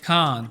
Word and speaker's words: can't: En el negativo, I can't swim. Can't se pronuncia con alarga, como vimos previamente, y va a sonar fuerte.